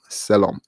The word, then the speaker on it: Selorm: Selom. It's Selorm, but the R is pronounced, it's a little silent. So it's Selom.